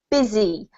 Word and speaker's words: busy: I see right but we actually pronounce it busy with the Zed sound and an I sounding vowel which is really strange